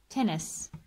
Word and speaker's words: tennis: Here we just pronounce one N. Tennis.